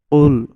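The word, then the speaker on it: قُلْ: লেগে উচ্চারিত হয় কাফ তো এখানে কফ উচ্চারণ হবে আমরা যদি বলি কুল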